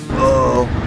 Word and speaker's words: oOoOO: Truth is, the name was originally supposed to be unpronounceable, but now the "general consensus" is to pronounce it "Oh."